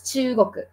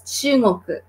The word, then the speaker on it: chugoku: And so it is spelled as chugoku, actually, yes. But you can also say it as chungoku, yes.